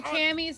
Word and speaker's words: Cammy: There's a reason why Cammy's name rhymes with scammy, okay?